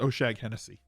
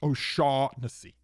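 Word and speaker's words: O'Shaughnessy: get on youtube chat it's not pronounced oh shag hennessy it's it's pronounced oh shawn missy how many of those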